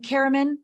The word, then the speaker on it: Karaman: how do you say your last name Carman Carman am I saying it right Carman yeah Carman